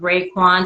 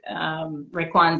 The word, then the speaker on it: Raekwon: And it's going to be premiering, and it's produced by a Wu-Tang member, a gentleman by the name of Raekwon. Did I pronounce his name correctly?